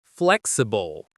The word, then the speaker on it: flexible: The pronunciation is flexible. The stress is on the first syllable.